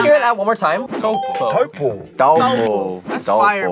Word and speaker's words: Taupo: Tuapo. No. Taupo. Taupo. Taupo? Taupo. I'm going tapo. I'm just going tapo. Taupo? Taupo. He like emphasized it when he. Can we hear that one more time? Taupo.